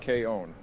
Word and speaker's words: K-On: Actually, Donald, it's pronounced K-On. You've already made it clear that you are an anime normie. Ooh, K-On, I love Azasaw.